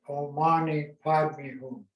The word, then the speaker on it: Om Mani Padme Hum: Meditate like this as you recite the mantra, Om Mani Padme Hum. Or in India, they pronounce it Om Mani Padme Hum.